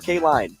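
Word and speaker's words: Kaelin: I keep hearing two different pronunciations for, is it Kaylin or K-Line? I think it's K-Line, isn't it? I think it's K-Line, right? Yeah. Yeah. Because he said I keep hearing two different pronunciations for K-Line's name. Should we ask? We can double check. Yeah, I'm pretty sure. I'm sure it's K-Line.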